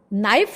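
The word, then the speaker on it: knife: ऐसा ही नियम है नाइफ की परिभाषा के एन आई एफ ई ही होती है लेकिन बोलते समय साइलेंट हो जाता है के लिखते समय के लिखा जाता है अब सब बच्चों ने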